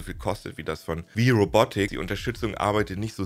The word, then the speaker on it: WIRobotics: Gab auch noch das Exoskelett von Wii Robotics, also Wii Robotics, aber ausgesprochen wie Wii.